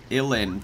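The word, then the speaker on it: uilleann: thing here on the Wikipedia article for it illin pipes yeah crazy Irish words having weird pronunciations when they look a lot more complicated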